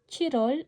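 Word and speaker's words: 칠월: Tandaan yung pronunciation ng Chirol. Chirol ay July. Shirol ay October.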